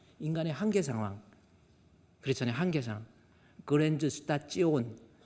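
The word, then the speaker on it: Grenzsituation: 한계상 그랜즈 스타찌오 독일어로 STION는 찌오온으로 발음합니다. 그랜저스타찌온 그랜저스타 찌오낸 뭐예요?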